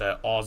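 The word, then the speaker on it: Auxerre: By the way, it is uh O A U X E R E, which pronounced Oz or something like that.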